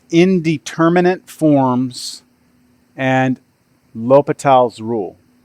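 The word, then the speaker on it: L'Hôpital: called indeterminant forms and lal's rule or La hospital it's it's pronounced Lal um so the big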